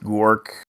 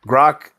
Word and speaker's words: Grok: Um, the other question was because considering that incident that happened with Gork, I forgot how Grok, you that mean? pronounced the Grok. Yeah, Grok. I actually asked it a question.